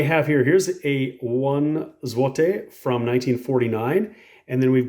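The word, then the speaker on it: złote: is really interesting because how you say it depends on the number so this one right here is Juan zote zote and if it's two to four it's pronounced a little bit different and again I'll try my best but this is to zote so it's a little bit different and if it's five or more it's zotek zvotec so very interesting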